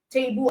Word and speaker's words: table: Table has two syllables. So if you are breaking it down, you say table.